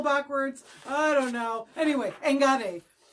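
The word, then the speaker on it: enkare: Anyway, engare. So it's not a sharp K sound. It sounds more like a G, but it is spelled E-N-K-A-R-E, engare.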